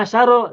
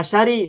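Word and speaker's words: عشر: itu berarti tidak berubah makanya tetap bacanya Asaro tidak Asari meskipun mudf ilai Oh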